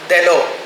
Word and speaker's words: Delot: அவங்க அந்த டிரான்ஸ்லேஷன் ஸ்டடீஸ்ன்ற அந்த நூலில் ஒரு மொழிபெயர்ப்பு கோட்பாடுகள் வரலாறு எல்லாத்தையும் சொல்லிட்டு ஒரு ஃப்ரெஞ்சுக்காரன், அவன் பேர் எத்தியன் டெலோ, DELOTன்னு இருக்கும், டெலோ அப்படின்னு உச்சரிக்க வேண்டியிருக்கும். 37 வயசில் அவன் கொல்லப்பட்டான்.